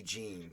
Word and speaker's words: Jin: threw me off that they pronounced his name jin can i just start with that yeah i wanted to be gene because that's whenever i've seen any japanese like movie or anime or property if somebody's name was j-i-n they pronounced it gene yeah i mean uh